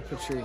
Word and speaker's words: Petrie: Tell them how to pronounce the YouTube channel. Thea Petrie. No. Petrie.